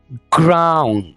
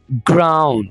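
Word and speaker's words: groan: में क्लैप कहते हैं ग्राउन ग्राउन कैसे बोलना है इसको ग्रो नहीं बोलना ग्राउन तकलीफ की आवाज आपको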